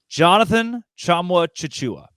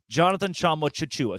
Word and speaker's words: Jonathan Tchamwa Tchatchoua: The book, the actual pronunciation guide, is different from the audio that John gave them, where he says Jonathan Tchamwa Tchatchoua.